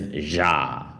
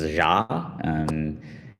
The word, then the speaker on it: Xia: So the first starter is Ja, right? So apparently it's Ja. So kind of like a weird pronunciation of the X here.